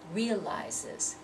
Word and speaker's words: realizes: So now instead of realize, which is two syllables, we have to say it as if it's three syllables. Realizes, realizes.